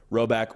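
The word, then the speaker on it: Rhoback: done work with them for a long time roback will not steer you astray all right so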